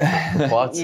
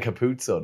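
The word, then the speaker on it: Capuozzo: How you pronounce it, Capuazzo. Yeah. I was saying Capuzzo the whole time. Yeah, yeah, there's a lot of people saying Capuzzo, so yeah.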